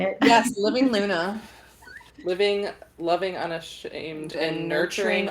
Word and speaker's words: Living LUNA: right is that how you say it yes living Luna living loving unashamed and nurturing authenticity boom I